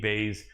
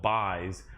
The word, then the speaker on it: Bays: against the wall, and as his name looks like it's spelled, buys, I think he buys himself an additional UFC contract with the win here, even though his name is Bays, but it's spelled like buys.